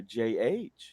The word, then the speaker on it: Jheri: Wow, there's a silent H in there. Jheri.